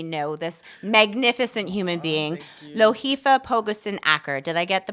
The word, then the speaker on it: Lohifa Pogoson Acker: local Hamilton community know this magnificent human being, Loheifa Pogusen Aker. Did I get the pronunciation close?